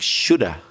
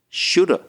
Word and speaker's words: should have: So rather than should have, it almost sounded there when you said it like shoulda. I should have been. Yeah, sometimes it comes out like that, doesn't it? Yeah. You can't even hear the V sound. Instead of should have, people say shoulda.